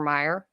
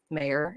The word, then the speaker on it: Mayer: the song now um it's not oscar mayer it's oscar mayer not oscar meyer it's mayor and it's always been mayor and what's funny is